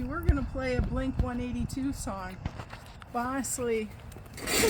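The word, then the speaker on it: Blink-182: Yes, in which we were going to play a Blink 182 song.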